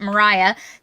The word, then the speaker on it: Moriah: It's spelled Moriah, but Moriah, to recoup, and he